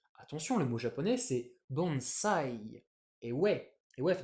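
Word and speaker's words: bonsai: français on prend ça bonsaï parce que quand on a un S coincé entre une consonne et une voyelle on le prononce comme dans consomme d'ailleurs donc français ça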